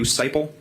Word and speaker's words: Seipel: Seibel step forward here Michael staple seiple my last name is spelled s-e-i-p-e-l how are you currently employed I